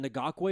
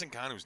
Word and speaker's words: Ngannou: And then was it Ngakwe? Is that how you say his name from the UFC? No. Oh, Francis Ngannou.